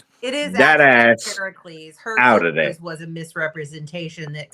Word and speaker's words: Heracles: Can I have or as some people pronounce it Heracles took Cerus out of Hades it is Heracles her was a misrepresentation that kind of stuck.